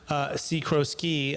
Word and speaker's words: Sikorsky: I'm going to pronounce it first. Sikorsky, by going to LinkedIn, and that's the best way to find him.